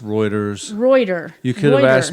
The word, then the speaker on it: Reuters: Routers. It's actually pronounced Reuters.